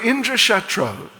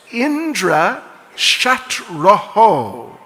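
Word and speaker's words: Indrashatru: So Indra Shatro, but they mispronounced it as Indra Shatraho, Visarga, Oho. Instead of just Indra Shatro, Indra Shatraho, which completely changes the meaning to that person who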